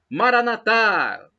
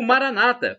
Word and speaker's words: Maranatha: do aramaico Eu Clamo Maranatha como dizemos nós católicos com a tônica na última sílaba ou Maranata como dizem os protestantes